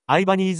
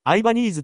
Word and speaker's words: Ibanez: イバニーズはいつアイバニーズになったかつてはイバニーズ読みが公式カタログでもなされていましたが公式がアイバニーズ読みに固定化したのは